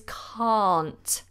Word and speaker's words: can't: can cannot but here it changes completely to a long are sound the jaw is dropped the mouth is open can't I can't very different to an American pronunciation okay so here is